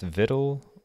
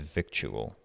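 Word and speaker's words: victuals: know would you pre is this pronounced Vittle would you ever pronounce it victual let me say fresh viddle we hanker after fresh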